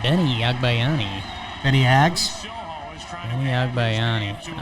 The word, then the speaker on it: Agbayani: How do you pronounce his last name? Agbayani. Benny Agbayani.